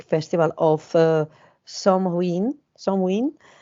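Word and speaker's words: Samhain: the ancient Celtic Festival of uh some ruin somewin pronounced so in okay the Celts who lived 2000 years ago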